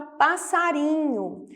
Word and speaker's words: passarinho: temos a palavra passarinho oeste está entre duas vogais só que eu preciso que ele ainda continua entendo o som de s ao invés de Z Então para que ele tenha um som de s ao invés de dizer eu preciso duplicar esse S então nós temos aqui